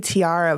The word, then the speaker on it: Tiara: So, my name's Tiara after the crown. And it would be Tiara, but my dad always pronounced it with the southern accent.